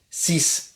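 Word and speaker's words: six: 6 et 10 s'écrivent avec X, mais se prononcent avec S.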